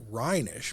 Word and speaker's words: Reynish: I might have the name recognition, but remember my name is pronounced rhinish, but it's spelled Rish.